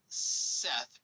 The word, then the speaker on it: Seth: we got uh corbinx's thoth is pronounced toped h's are silent in seth pronounced set however this is interpretation